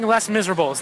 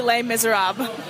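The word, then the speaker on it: Les Misérables: I'm going to bring Les Miserables, the unabridged version. Les Miserables. Because I've never been able to finish that. Phil, I went to France this summer. It's most definitely Les Miserables.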